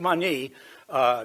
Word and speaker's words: Tsimane: scans on the Tsimane, that's the way you pronounce it, Tsimane tribe of the Bolivian jungle.